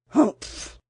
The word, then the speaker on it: humph: "Humph!" said the sand fairy. If you read this story aloud, please pronounce humph exactly as it's spelt, for that is how he said it.